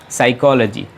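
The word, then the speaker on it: psychology: है psychotic2525 college जी साइकोलाजी और उसमें पीस साइलेंट है तो पी का उच्चारण बिल्कुल भी इसमें नहीं आएगा और आप इसे प्रयास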